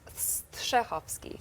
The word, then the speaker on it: Strahovski: it's pronounced Strahovski, which Strahovski.